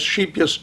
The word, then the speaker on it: Scheepjes: this dutch thread um called cheap yes s-c-h-e-e-p-j-e-s sheep yes i've learned i've been told that's the correct pronunciation anyways i said i'd probably never do